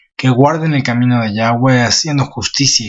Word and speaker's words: Yahweh: Lo voy a pronunciar yo como Yahweh, que es la pronunciación que yo creo que es la más cercana a la realidad.